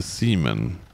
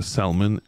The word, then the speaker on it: salmon: You said, the L is silent, not Simon, silent. And so instead of a salmon, it is now seaman.